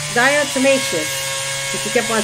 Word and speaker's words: diatomaceous: her voice on through facebook and said it's diocemesis diatomaceous she kept on saying it so that's my